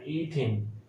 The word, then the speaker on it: ethene: অর্থাৎ আমার যে ছিল ইথিন, ETHANE, ইথেন ছিল, আমার এখানে উচ্চারণটা হবে ইথিন, ETHENE, অর্থাৎ এখানে প্রত্যেকটাতে ENE যোগ হচ্ছে।